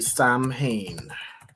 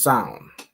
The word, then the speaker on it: Samhain: So, it's not exactly Sam Hayne. How would you pronounce this? Let me look up pronunciation. So, I think it's pronounced Sanhan or Hold on. is pronounced as sound.